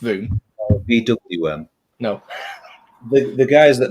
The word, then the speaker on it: VWM: Voom, yeah, pronounced Voom.